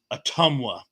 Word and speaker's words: Ottumwa: Dr gen3 says uh very good you pronounced Ottumwa thank you I'm glad I pronounced it properly um uh and uh